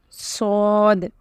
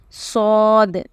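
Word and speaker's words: صاد: Then you have Sod, Sod. This is a heavy letter, okay? So pronounce it heavily with your lips round. Sod, Dod, Dod.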